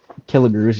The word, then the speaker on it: Kelligrews: talk where your lanes, Riverdale Lanes, is in Kelligrews. Is that what it said? That's how you say it? Killigrews, yeah.